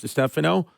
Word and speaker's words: Distefano: detectives and they're like are you Chris to Stephano I said well you pronounced my last name right and they I said